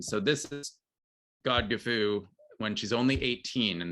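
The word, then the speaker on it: Godgifu: i should mention that god gifu is the old english pronunciation and spelling of lady godiva's name so this is god gefu when she's only 18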